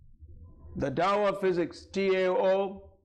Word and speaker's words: Tao: And right after that, this Austrian theoretical physicist Fritz Capra wrote a book called The Tao of Physics, T-A-O, Tao, it's pronounced as Tao, it's a Chinese word, Tao of Physics.